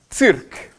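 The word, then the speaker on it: цирк: Le cirque, ça se prononce circ. Circ.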